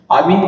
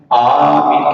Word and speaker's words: آمین: کہنا بیان نہیں ہوا۔ آمین کے تلفظ میں اختلاف میں یعنی مختلف طریقے ہیں، آمین کہنا بھی، آمین کہنا بھی، اور آمین میم کی شد کے ساتھ کہنا، یہ تین طریقوں سے اس کا پڑھنا چاہیے۔ یعنی آمین جیسے ہم